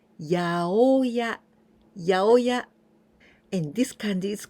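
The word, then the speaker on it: 八百屋: We don't say yasaiya like this, but we say yaoya, yaoya.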